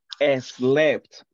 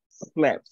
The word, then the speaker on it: slept: So don't incorporate that sound at the beginning. It is not slept or sleep. Not like that one. Sleep, sleep, slept, slept, slept, slept.